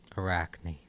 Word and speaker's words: Arachne: How do you pronounce the spider? Arachne.